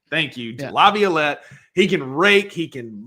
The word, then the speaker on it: Laviolette: I pronounce Jace Laviolette. Thank you, yeah. Laviolette.